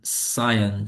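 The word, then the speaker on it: scion: Again इसको हम सायन भी कहते हैं। एस सी आई ओ एन ठीक है माय अपोलॉजीस अगर मैंने स्टार्ट में गलत बोला होगा सायन सायन ठीक है सायन इट इज प्रोनाउंस्ड ठीक है उसके बाद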